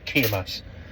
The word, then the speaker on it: Cemaes: lovely receptionist last uh how exactly do you pronounce it and she says Kass um but with a bit more Walsh thrown into it so like anything